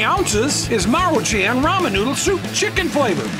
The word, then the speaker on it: Maruchan: But the other day, I saw a video where this guy was pronouncing this as Manchurian. I don't know how in the world you can get Manchurian out of Maruchan.